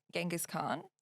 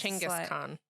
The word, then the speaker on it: Chinggis Khan: He was talking about Genghis Khan. Yeah. And how he was Chinggis Khan.